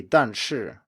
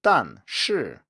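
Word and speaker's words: 但是: two full fourth tones an example might be danshi which means but or however and it's rarely pronounced as done sure with two full fourth tones falling all the way from the highest pitch to the lowest instead the fall is spread out over both syllables so the first one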